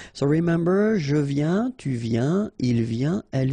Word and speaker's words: viens: Final S not pronounced, okay? And when you combine this IEN, you get this yin, yin.